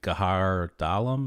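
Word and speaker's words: Għar Dalam: sites i think is like gahar dalum is that how you pronounce it yeah okay uh again i'm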